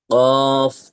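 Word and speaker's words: ق: কফ জবর ক মানে কফ যখন বলছে তখন ধাক্কাটি দিচ্ছে কিন্তু যখন উচ্চারণটি করছে জবরের তখন ধাক্কাটি দিচ্ছে না তো আপনাকে সবসময় ধাক্কাটি দিতে হবে কফ অক্ষরের ক্ষেত্রে কফ জের ইফ পেশ উই উই উই অ উই বলেছিলাম আগেই।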